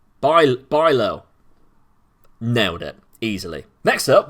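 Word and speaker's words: Bijlow: at right now uh the ij is almost as impossible to pronounce as a non-native speaker fantastic um never stood a chance then but try to pronounce it like a y to come a little closer so baijlo by bilo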